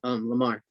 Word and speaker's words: Lamar: Lamarck, is Lamarck the agency, the Billboard agency? Yeah, Lamar. Lamar. Lamar. It's spelled Lamar. So they were the first agency that you spoke to.